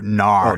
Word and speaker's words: nar: Nar. N. Just a non-standard spelling/p pronunciation for no. Closest thing to compare it to in American English would be like nah. You know, nah.